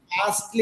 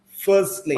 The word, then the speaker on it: firstly: It is not fastly it is firstly firstly.